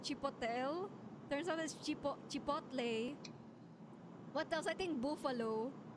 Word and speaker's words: chipotle: So it's not chipotel. I've been calling it chipotel. Turns out this chip chipotle.